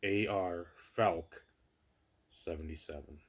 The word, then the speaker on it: AR Falk 77: I know the old YouTube Hall of Fame voting's coming up, and nobody can properly pronounce or say AR Falk 77, not R Falk. No, it's AR Falk 77.